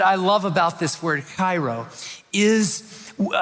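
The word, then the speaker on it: χαίρω: not just Cairo, just you kind of work up a little bit of spit and it's like Cairo. Cairo.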